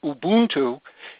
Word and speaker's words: Ubuntu: Linux is an operating system that you can download from the internet for free, and Ubuntu, or as it's properly pronounced, Ubuntu, is a free download, more coming in just a few moments.